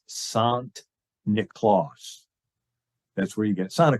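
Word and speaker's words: Sint Nicolaas: So the Dutch pronunciation of Saint Nicholas is Sant Nicolaas.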